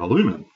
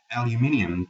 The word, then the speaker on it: aluminium: Here we have aluminum, for you Americans. Aluminium to those who can pronounce things properly in the English language.